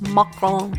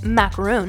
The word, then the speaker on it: macaron: And for the record, I know they're properly pronounced macaron instead of macaroon, but I'm American, and